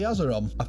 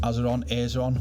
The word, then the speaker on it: Azeron: And it's called the Azerum. Well, I think it's pronounced azeron, whatever.